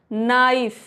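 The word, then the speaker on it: knife: अगर कोई भी वर्ड के से शुरू होता है तो वहां पे के साइलेंट रहता है। फॉर एग्जांपल नाइफ तो के नहीं पढ़ेंगे।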